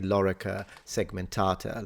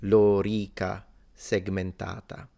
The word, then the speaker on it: lorica segmentata: in Latin in English it's fine to say Lura segmentata like he does speaking English nothing wrong with